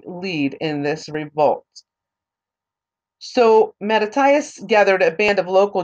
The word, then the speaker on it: Mattathias: So Judas Maccabeus was one of the sons of Mattathias Maccabeus. So actually, it can also be pronounced, it can also be pronounced as Mattathiao, Mattityahu, or also it's also found as Mattathias Maccabeus.